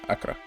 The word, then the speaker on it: Accra: How do you pronounce that? Accra, yeah.